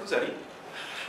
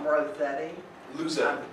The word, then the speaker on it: Lozetti: My name is Lozetti. For those who don't know me, I think it almost everybody does. Rosetti? Lozetti. Yes. I'm picking notes for the pronunciation.